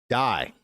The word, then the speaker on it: dye: Dye. My shirt does not have dye, or you could say it does have a orange like dye, D-Y-E. But then D-I-E, which sounds the same, means to no longer exist.